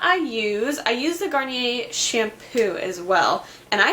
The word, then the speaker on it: Garnier: My next December favorite is this Garnier Skin Renewal Anti-Puff Eye Roller. So this is what it looks like. I always pronounce the name wrong.